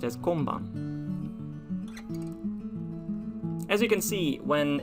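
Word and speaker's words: 今晩: as well it's written like this and it's pronounced as konban as you can see when it is used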